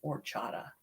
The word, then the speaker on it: horchata: I found out about the lovely horchata here, which people pronounce it horchata. The H is silent. So I call it horchata because that's the way it was spoken to me.